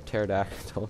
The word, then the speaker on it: pterodactyl: Petrodon, or pterodactyl. Sorry, the P is silent.